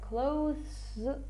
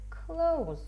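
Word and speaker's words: clothes: переодягатися чинч Клаус і зверніть увагу як вимовляється це слово може вимовлятися Close щось типу такого але мені якось важко так вимовляти А можна просто Клаус можна не ускладнювати життя собі і просто сказати Клаус Close time is up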